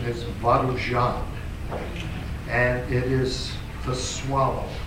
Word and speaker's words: Varujan: where does it come from uh the correct pronunciation is vuan and it is the swallow the bird and